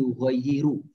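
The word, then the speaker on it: يُغَيِّرُ: dalam yiru Bapak Ibu cara membacanya bukan ya kuliah tapi yughoyyiru Drivenya kata yugho itu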